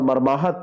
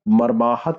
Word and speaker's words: मर्माहत: कौन सा सही होगा तो मर्माहित और मर्माहत थोड़ा सा अंतर आपको यह केवल मात्रा का लग रहा है अगर आप उच्चारण करते तब भी गलत होगा तो यहां पर आप मर्माहत को टिक करेंगे क्या सही होगा यहां पर सही होगा मर्माहत यही सही उत्तर हो